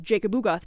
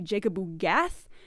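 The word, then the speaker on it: Jacob-Ugath: So you heard me pronounce this word earlier as Jacobugoth, but apparently it's supposed to be Jacobugath, which I like significantly less.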